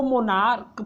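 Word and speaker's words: monarch: इसको मोनार्क पढ़ते हैं, इसका उच्चारण यहाँ क होगा और इसका भी क, इसलिए इसका प्लूरल हम लोग बच्चों केवल यस जोड़कर करते हैं।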